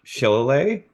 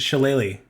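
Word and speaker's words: shillelagh: is and I'm going to screw up the pronunciation of this because I don't know what it what it actually is but Chile uh close it's sheleighly shilleli thank you so that's that's what this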